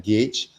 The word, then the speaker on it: gauge: is just so weird there's a letter u over there but it's not even